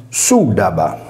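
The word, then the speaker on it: syllaba: In conclusione, con le regole grammaticali del tempo, il termine si identificava con sudaba.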